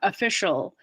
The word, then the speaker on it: official: on the second syllable so if something starts with an uh Amanda apartment uh official it has stress on the second syllable usually so you can't really